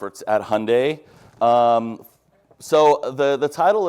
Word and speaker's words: Hyundai: brand in in America it's Hyundai like Sunday we say that every time we brief an influencer Hyundai like Sunday so I'm